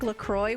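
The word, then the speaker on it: LaCroix: If carbonated water like Lacroy was so bad, they wouldn't have actually put alcohol in it too, right?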